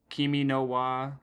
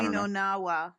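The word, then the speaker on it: 君の名は: I believe in Japanese it's also known as like Kimi no wa or something. I don't know. Kimi no na wa, yes.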